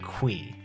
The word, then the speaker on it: Qi: recently in habu stream concerned apes stopped by and clarified that mr key's name is actually pronounced mr qui i tried saying it